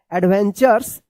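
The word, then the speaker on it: adventures: में आर ई है तो क्या है कि इस टी यू का च उच्चारण होता है। क्या होता है? च एडवेंचर्स एंड लाइफ लेसंस।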